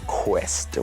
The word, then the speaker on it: Kwesta: Yeah, I was Kwesta with a Q-U, the proper way to spell it.